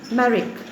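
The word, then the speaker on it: Marić: write her name maleva the pronunciation is maleva marik m-a-r-i-c he met a girl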